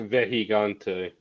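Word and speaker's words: Vejigante: You don't Vegigante pronounce the J though, so it's a Vehigante.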